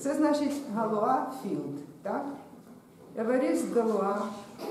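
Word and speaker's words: Galois: Це означає філд, а це галуа філд. Еверіст Галуа. Це читається як уа у французькій мові.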